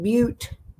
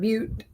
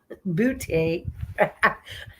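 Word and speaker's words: Butte: And this is in but Montana. Everybody's heard of but it's spelled like buty. But bouty.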